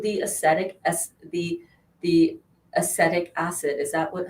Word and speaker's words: acetic: it because of the aesthetic as the the acetic acid is that what how you pronounce it vinegar it's acid so in the